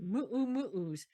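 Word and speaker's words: muumuu: Moo-moos, I guess, but we were told to pronounce it correctly. Moo-moos.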